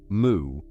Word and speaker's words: Mu: And he said, "Moo." That is the whole exchange in one form, a question and a single syllable. "Moo." The Japanese reading of the Chinese character "wu" written "wu".